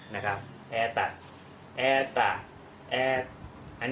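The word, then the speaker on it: это: ภาษา รัสเซีย นั่น เอง อัน นี้ อ่าน ว่า แอ ตะ นะ ครับ อ่า นี้ ถูก นะ ครับ แอ ตะ เพราะ ว่า อุดา เนี่ย อยู่ ที่ พยาง หน้า โ ตัว นี้ เลย ต้อง ออก เป็น สระ อ นะ ครับ แอ ตัด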